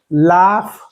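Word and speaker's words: laugh: कायणार तुम्ही कस वाचणार तर याला तुम्ही लाफ वाचणार काय वाचणार लाफ लाफ काय उच्चार आला लाफ कस ओळखलं ला का वाचला कारण या स्पेलिंग मध्ये एय आलेला आहे बघा एय मय नंतर जी आला असेल तर त्याचा उच्चार फ करायचा मग काय वाचणार लाफ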